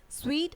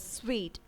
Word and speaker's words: suite: Suite has been mispronounced as suite. So the right way of pronunciation is suite and not suit. I repeat, it is suite and it's not suit.